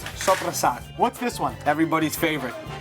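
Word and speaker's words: soppressata: Sopressata. It's not supersata. It's not supersat, it's sopressata.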